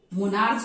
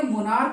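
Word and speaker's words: monarch: मोनार्च नहीं, stomach नहीं बोलेंगे आप, स्टमक हम लोग बोलते हैं। मोनार्च नहीं बोल के मोनार्क बोलते हैं।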